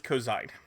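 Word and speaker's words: Ko'Zeine: It was cozine or cosine. Coine. Coine. Right. Because we were talking before. Yes. Which I mispronounced at the end of last week's episode. But it is cozine.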